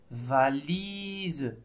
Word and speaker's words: valise: Lorsque la lettre S se trouve entre deux voyelles, ça se prononce Z, comme dans le mot valise.